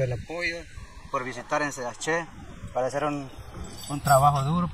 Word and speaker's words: Sayaxché: ¿Cómo se pronuncia Sayaxé? Sayaxé.